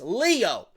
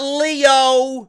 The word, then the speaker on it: Lio: and his name is Lio Rush. L-I-O, goons, not L-E-O. He's not Leo, named after Leonardo the Ninja Turtle. It's Lio. L-I-O. Not Leo, the Ninja Turtle. Not Leo DiCaprio, the actor.